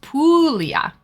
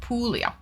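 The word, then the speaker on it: Puglia: I think it's pronounced Pulia. Ah, my bad. All good. Pulia. Okay. The wine. So, this province, this region in Italy is pronounced Pulia for anyone who doesn't know.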